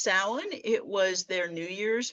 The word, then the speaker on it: Samhain: you see that spelled out, you'll think it's pronounced Samhain. And there have been a lot of characters in horror movies and novels named Samhain, but it's pronounced Samhain.